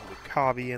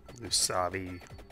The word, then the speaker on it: Lucavi: Final Fantasy 7 there's a bunch of demons called lukavi in there or lucavi know depending on however you want to pronounce it anyway there's demons there's